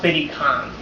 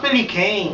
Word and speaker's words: Billy Kane: No, it's pronounced Billy Kane. Billy Khan. No, the way it's spelled, it's Billy Kane. No, it's Billy Khan. Look, there's nothing anywhere that says that's pronounced Billy Khan, okay? Excuse me? Terry Bogard versus Billy Khan. Okay, fine, so it's Billy Khan, fine.